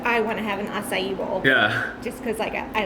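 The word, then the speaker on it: açaí: it some juice variation and I was saying akai akai akai which I'm sure everybody does but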